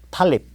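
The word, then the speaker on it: Tlaib: 탈립, 이거 탈립이라고 읽어요.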